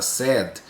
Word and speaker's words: said: É a mesma pronúncia do adjetivo da qualidade triste, sad. Então a pronúncia do verbo dizer no passado é igual, é semelhante à pronúncia do verbo do adjetivo sad, que é triste.